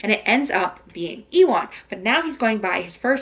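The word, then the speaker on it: Iwan: The audiobook pronounced it Ewan. It's I-W-A-N. I would have assumed that it was Ewan, like Ewan McGregor. Like, that's how you would pronounce it.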